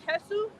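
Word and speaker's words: Jesús: Oh, my name is Jesú, Jesu, accent on the U, like the actor.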